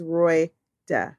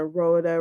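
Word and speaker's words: Roida: can't say her name her name is Roy da r-o-i-d-a how hard is that radar they call it Rhoda Randa Rhonda like mine this woman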